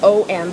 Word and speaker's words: om: write a few letters om but it's actually a um we have three syllables and so ah being